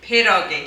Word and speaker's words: pierogi: how to do a typical Polish dish called Pierogi. Okay, perogi.